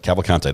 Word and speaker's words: Cavalcante: very far uh yes you said it right cavalcante that's what I'm just going to try to